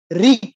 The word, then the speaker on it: ঋক: ধরুন ঋক, ঋগ্বেদ যে আমরা বলি ঋক, হ্যাঁ? এই ঋক বলে ক এর নিচে একটা হসন্ত দেই। উচ্চারণটা কিরকম করি? ঋক। যে ঋক ক কিন্তু পুরো উচ্চারিত হয়নি।